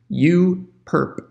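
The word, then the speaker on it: U⊥: there you along with the superscript that's actually pronounced you perp so we say you perp so the orthogonal complement is you perp and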